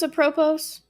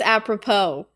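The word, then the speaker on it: apropos: I didn't mispronounce a propose. I know it's apppropo. Thank you, Sam. It actually I think it can be pronounced both ways. I feel like I looked it up at one time. I mean I've always pronounced it apppropo.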